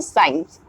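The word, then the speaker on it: science: है हम चेक करेंगे often साइलेंट इन the combination AC खास करके जब एससी का कॉमिनेशन होता है दैट टाइम पर सी हमारा जो है वो साइलेंट होता है जैसे कि साइंस साइंस एससी साइंस now next is seizures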